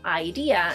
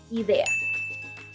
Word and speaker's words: idea: I know, once again, it might be tempting to pronounce it as it is in English because it's essentially the same word, but instead of saying idea in Spanish, we say idea.